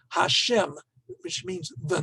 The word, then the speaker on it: Hashem: Yud He Vav He, the name of God, which you do not pronounce, is said to be the personal name of God. For rabbinic tradition, the two most important names that we associate with God, Elohim, which is more descriptive, as it were, and Yud He Vav He, which you in Art Scroll and in many Orthodox circles is always pronounced as Hashem, which means the name,